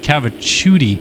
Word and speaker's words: Cavicciuti: By the way, Dylan Cavicciuti told me that is pronounced Cavicciuti.